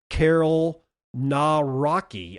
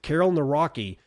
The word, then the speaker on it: Karol Nawrocki: On to Poland, where they have elected the first openly pro-crypto president, Karol Nawrocki, I think is how you pronounce it, Karol Nawrocki, amid global crypto shift.